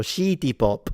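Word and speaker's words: シティポップ: Yeah, because the Japanese don't have the sound si, so it will turn into shi. So shitty pop.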